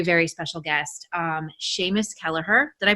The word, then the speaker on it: Kelleher: another very very very special guest um seamus kelleher did i pronounce that right keller heard yes yes okay um and i am super